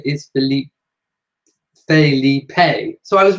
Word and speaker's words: Felipe: Felipe. Philippe would be French. So there you go. Philippe is French, Philip is English, and Felipe is Spanish.